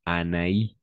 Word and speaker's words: Anaïs: tréma d'accord le tréma donc dans ces cas-là on va prononcer Anaïs ou Anaïs d'accord ou Anaïs tout simplement Anaïs d'accord il y